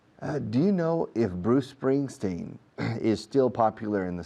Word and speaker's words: Bruce Springsteen: No digo Bruce Spring, Bruce Spring, Bruce Spring. Digo Bruce Spring, Bruce Spring. La C de Bruce se enlaza con la S de Spring. Bruce Springsteen.